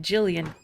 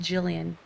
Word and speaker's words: Gillian: ever met someone who spells it with the G when it's pronounced like Jillian what about Jillian Anderson